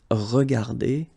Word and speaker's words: regardées: Remember that we don't pronounce them, so you will get phonetically regarder, and then here the same form, regarder. Okay, so you don't pronounce anything after your E, but still you should write them if you want to write correctly.